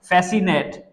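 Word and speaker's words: fascinate: है सिनेरियो उसके बाद बोलते हैं फेसिनेट फेसिनेट फेसिनेट एफ ए एस सी ई आई एन ए टी ई फेसिनेट यहां पर भी जो सी है ना वो भी साइलेंट होती है गाइज अब यहां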